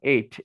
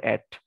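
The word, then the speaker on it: ate: ওকে, digit 8 এর মতো আর কি, মানে এটা উচ্চারণ 8, নট অ্যাট। তাহলে বাট শি অলসো টোর open দ্য বক্স and eight chocolate all দ্য ওয়ে টু দ্য restaurant.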